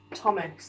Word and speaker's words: Thomas: we spell your name is there a silent letter there is isn't there goes here but we can't hear this thomas the hook goes here